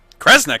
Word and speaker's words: Kresnik: The other word attached to it is pronounced cre. Which of those first two readings feels right to you? Sound it out. Kre, Snira, Kre, Snick. Kresnik.